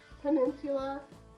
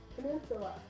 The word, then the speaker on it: peninsula: Peninsula. Yes. See? I always want to put an L in the end.